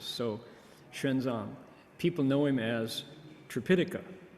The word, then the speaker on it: Xuanzang: It's the Xu, it's an X, and then an umlaut, Xu Yuan, and then the Zang is just not in English syllables. So Xuanzang, people know him as